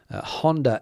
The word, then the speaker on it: Honda: Japanese uh motorcycle Brands Honda and Yamaha uh both with H's in them the uh H in the word Honda is not pronounced here in Spain Hond but the H in